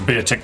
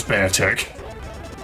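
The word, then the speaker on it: Beartic: I call it beer tick because just of the way it's spelled. I know it's bear tick. It's a It's a bear tick.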